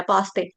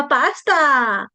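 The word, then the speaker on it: उपासते: आई एम अ पास्ता। पास्ता ये पास्ता नहीं है ये है पासते पासते स पूरा संस्कृत में यही तो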